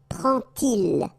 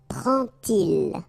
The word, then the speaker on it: prend-il: And so this little d here is in red just to show you that you won't pronounce it like d to make the liaison, but you will pronounce it like t.